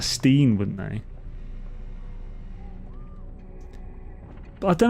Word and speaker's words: Stein: I can tell you Germans pronounce their IE as, and EI sounds basically the opposite of English. You can see in words like Stein. I think Americans would pronounce that Steen, wouldn't they?